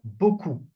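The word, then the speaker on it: beaucoup: So we have bu the P is not pronounced okay not bu a lot or much.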